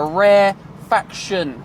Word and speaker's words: rarefaction: spread out, is called a rarefaction, not refraction, a rarefaction. Make sure you say it and spell it correctly. That's to make sure it doesn't get confused with refraction, because that's the bending of light, a completely different thing.